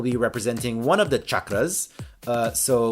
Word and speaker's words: chakra: Anyway, she messaged us to clarify that it is pronounced chakra with the hard CH.